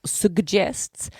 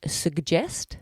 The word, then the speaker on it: suggest: So the first G is a G and the second G is a J.